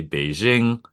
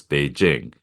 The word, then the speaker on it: Beijing: the US people always say Beijing it's Beijing this carries over whenever they see the J for some reason they Fran ofile it this also carries